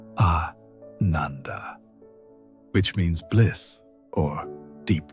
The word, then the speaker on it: ananda: She began to experience what the ancient texts call anandanda, pronounced ananda, which means bliss or deep joy.